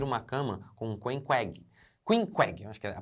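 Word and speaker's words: Queequeg: gosto a dividir uma cama com Queen WEG quinqg a pronúncia é essa que é um selvagem tatuado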